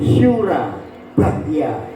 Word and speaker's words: Surabaya: Jadi, pengucapan yang benar adalah 'Syura Bahya'. Ya, Syura Bahya.